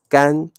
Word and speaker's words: 干: pronunciations of the word the first one is gang we talked about gang in the previous lesson with the first term it is an adjective